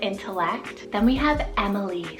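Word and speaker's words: Emmeline: the mind and until select then we have Emily's it's spelled e-m-e-l-i-n -em Emily's I know a ton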